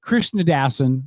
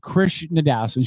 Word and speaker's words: Krishnadasan: with Deb Krishnadasan. Look, I learned how to pronounce her did.